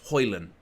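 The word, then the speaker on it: Højlund: properly and basically it's you don't say the D you say Rasmus hoyland and you just you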